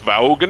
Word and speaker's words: Vaughn: out by that robert vaughn was a piece of work he was a he was kind of a stuck up on a guy i believe it's pronounced vaughan i'm a big fan